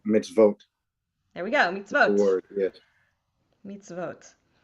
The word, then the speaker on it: mitzvot: vat okay very close but remember this o makes an o sound so if you vote oh mitzvote there we go meets